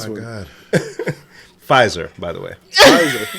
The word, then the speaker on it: Pfizer: Pfizer. The P is silent, brother.